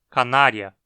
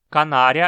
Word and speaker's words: canaria: que também significa canário aqui sim ele é curto de forma que a palavra é proparoxítona canária canária é derivado do nome